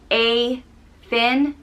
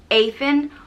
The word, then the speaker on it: Aodhfin: Another variant is Aodhfin, which means white fire, and it can be pronounced A-fin, Aodhfin, or Aodhfin. As I said, the pronunciations differ depending on where in Ireland you are, and Aodhfin is spelled